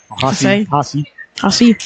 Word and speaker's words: Hasse: I used to call him Haas, but his mom told me it's Hasse. Hossie. The E is not silent.